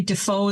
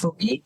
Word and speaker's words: Defoe: without an E, Defoe, exactly like Daniel Defoe, yes. Defoe.